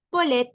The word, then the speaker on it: palette: poulet no suenan igual aquí lo acabo de decir como está escrito no como se pronuncia Ahora sí lo voy a decir cómo se pronuncia palette escuchen la el primer sonido que es a le escuché el segundo sonido que esa Cuál es más Cuál es un sonido más abierto a pesar de que